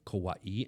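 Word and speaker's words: Kauaʻi: So with the apostrophes, you're supposed to put an emphasis on the second syllable. So it's supposed to be Hawaii and Kauai and stuff like that.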